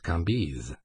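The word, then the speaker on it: Cambis: Lei kis c a m b i s pronounced KZ these antique visages and these biblical names mingled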